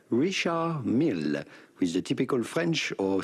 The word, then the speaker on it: Richard Mille: Do not pronounce the D to Richard.